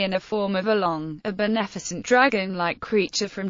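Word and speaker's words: 龙: The Chinese name for dragon is pronounced long in Mandarin Chinese or Lunjin Cantonese.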